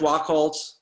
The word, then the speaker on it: Wachholz: Adam, is it pronounced Wachholz? It is, very, very good. Yeah, thank you. So Adam Wachholz is from RMO.